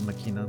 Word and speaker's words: Machina: I always said Makina, but um